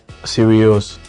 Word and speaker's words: Sirius: of the star, the dog star, it's called Sirius. So that's why So how do you spell that?